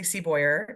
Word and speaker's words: Seaboyer: this month I'm excited be talking with Cassie seaboyer am I pronouncing your last name correctly Cassie yes okay